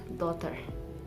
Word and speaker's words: daughter: letter z it is gh is silent and it is pronounced as daughter and also uh in